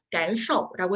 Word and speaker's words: 感受: sh 발음이기 때문에 발음하셔서 感受라고 해주시면 돼요. 우리 感 뒷부분에 있는 受 h 발음 약간 이제 턱을 라고 발음하시면서 感受라고 해주시면 조금 더 편하게 발음하실 수가 있고요.